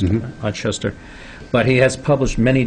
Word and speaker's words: Ochester: Is that how it's pronounced? Mm-hmm. Ochester.